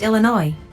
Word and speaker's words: Illinois: should just call Illinois um sir it's actually pronounced Illinois yeah yeah okay whatever we call it Chicago